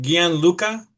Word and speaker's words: Gianluca: Is it Gianluca?